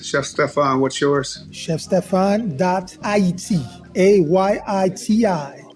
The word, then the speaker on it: Ayiti: ChefStefan.it, AYITI. This is the correct way to say Haiti.